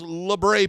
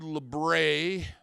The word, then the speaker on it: labret: Now, the basis of this word, Labret, or Labret, or Laburt, or the new one I heard recently, what was it? Labret, like Bret, like British, Labret.